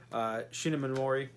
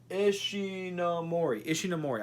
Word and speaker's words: Ishinomori: guy who created Kamen Rider and Super Sentai, Shinomori. Am I pronouncing his name right? Ishinomori.